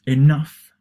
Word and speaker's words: enough: tough and rough so notice that enough is stress in the second part it's pronounced enough tough and rough remember